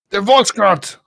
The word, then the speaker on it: de Volkskrant: De Volkskrant. That's how you say it, okay? That sounds German, but okay.